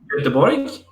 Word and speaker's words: Göteborg: Yeah, in Swedish it's Göteborg, I think, something like that.